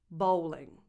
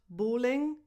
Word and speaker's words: bowling: Number 6, bowling. Bowling. Not bowling, bowling.